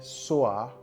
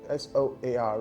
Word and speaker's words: soar: S-O-A-R is pronounced the same as S-A-W.